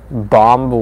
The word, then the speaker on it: bomb: Pronounce bomb without the B in the end.